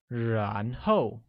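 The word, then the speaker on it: 然后: Then translates to 然后, which is said with a mid-rising tone on A and a falling tone on O, like 然后.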